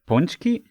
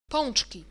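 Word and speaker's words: pączki: So, so it's pronounced something like punchki. If I interpret this here correctly, ponchki. Punchki. Okay, nice. Being able to read IPA is not bad.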